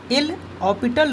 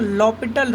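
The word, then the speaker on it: L'Hôpital: तो आज की शॉर्टकट सीरीज़ में हम लोग एल हॉस्पिटल रूल या एल हॉस्पिटल रूल, इसका अगर करेक्ट प्रोनाउंसिएशन करें तो इसको हम लोग लॉपिटल रूल बोलते हैं।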